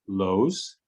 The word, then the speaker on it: Loes: i pronounce your name the correct pronunciation of your first name is lose lucia los yes from